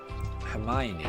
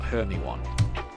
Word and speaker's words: Hermione: and it's dialogue between Hermione and Ron. And that is pronounced Hermione, not Hermyan.